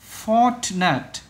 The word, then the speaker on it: fortunate: Fortunate. Đó. Nhấn âm đầu là bạn này. Và âm này các bạn đọc là ch.